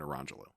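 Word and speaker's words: Orangejello: And it's spelled lemon jello and orange jello. Nice. But she was pronouncing it Lemangelo and Orangelo.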